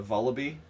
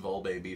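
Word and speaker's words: Vullaby: pronounce these for crap got a volaby which i pronounced well baby for the longest time i just added in a whole syllable i mean it's but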